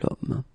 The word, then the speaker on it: homme: if you look carefully, you've got H here, okay? And it's not a vowel at all. But then in French, we don't pronounce it.